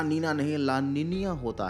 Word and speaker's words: La Niña: youtube1 word है और इसको ला निनिया कहा जाता है इसका प्रॉपर जो प्रोनाउंस एशन है ला निनिया है लेकिन भैया हमें देसी लोग तो जो दिखता है वही हम बोलते हैं तो इस वीडियो में मैं इसको ला निना ही बोलूंगा तो कोई होशियार कमेंट